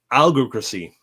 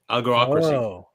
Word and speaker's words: algocracy: It's called, if I can pronounce properly, algocracy. Algo, as in algorithms, ocracy, algocracy.